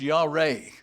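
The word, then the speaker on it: יָרֵא: The Hebrew word fear is pronounced yareh.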